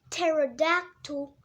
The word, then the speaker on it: pterodactyl: a flying reptile, a pterodactyl. In the word pterodactyl, there is a P at the beginning, but the P is silent.